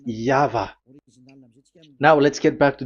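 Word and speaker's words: Yahweh: is the phonms the pronunciation pronunciation is equal V. It is V. Y H VH. So it is Yava.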